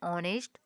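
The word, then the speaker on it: honest: Apple and overs and ऑनेस्ट और एम ए अब देखेंगे यहां पर दिखाई दे रहा है ऑनेस्ट ऑनेस्ट है तो यहां पर हमारा एच क्या चीज है साइलेंट है और ओ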